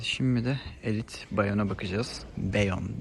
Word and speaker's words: Bayon: de Elit bayana bakacağız beyon diye okunuyor Arkadaşlar şöyle bir arkaya